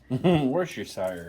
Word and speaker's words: Worcestershire: Do you want to pronounce that for me? Worcestershire.